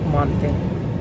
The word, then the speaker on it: манты: всяком случае в Казахстане а если говорить по-русски в Казахстане то обычно мы говорим манты ударение на букву А так вот будем лепить